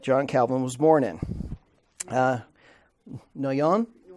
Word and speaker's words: Noyon: Noyon? Noyon. Okay. I can't pronounce it after she pronounces it.